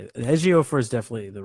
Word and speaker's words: Ejiofor: Ejiofor is definitely the right way, but his first name, I could be wrong.